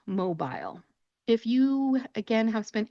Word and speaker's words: Mobile: This city in Alabama is not called Mobile, it's called Mobile. Mobile. If you listen to my pronunciation, you can hear that soft eel sound that I'm making at the end of the word.